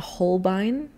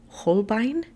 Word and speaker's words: Holbein: i am using a holbein i think that's how you pronounce it holbein i feel like you have to say it very german horbine probably just blew out